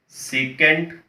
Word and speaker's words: secant: While we are writing, we will write as the short forms, but always the pronunciation should be in terms of sine, cos, tan, cot, secant and cosecant.